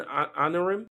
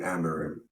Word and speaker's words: Amorim: Manchester United with their new manager Ruben Ruben anorm excuse me say it like you know how to speak Ruben amarim please Ruben amarim yeah your manager not not